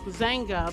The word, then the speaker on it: Dzanga: Now, the Zanga Bai, I think I'm saying it right, is pronounced Zanga, but it's spelled Dzanga, and Bai is Bai.